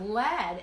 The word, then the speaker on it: lead: The verb lead, L-E-D, is pronounced the same way as a pencil lead, but it is the past tense of the verb lead, which means to guide and rhymes with deed.